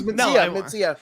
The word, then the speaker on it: Mencia: I don't want to get the name wrong. No. It's Mencia.